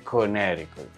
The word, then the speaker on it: Connecticut: salmon sin la l se escribe Connecticut pero se dice conic se escribe worchester pero